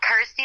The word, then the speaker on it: Kirsty: that it's you know rhymes with my name and helps people pronounce my name correctly so I'm like cool Kirsty like thirsty got ity like thirsty